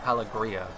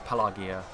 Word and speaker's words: Pelargir: gear and Pelagia seriously it's one of the hardest pronunciations to say hello Kia I used to say palette Berea but there is no ahh so it's Pelagia again there's no Gondor so